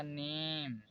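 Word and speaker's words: name: Word के last में मतलब जैसे यहाँ पर लिखा है बी आई के ई तो ये लास्ट में ई है तो इसलिए ये साइलेंट होगा। तो यहाँ पर हो जाएगा बाइक, यहाँ पर हो जाएगा टाइप, यहाँ पर होगा नेम।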